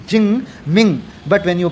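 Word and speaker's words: Jing Ming: When you write j i n g ching ming. But when you pronounce is the ching ming ching.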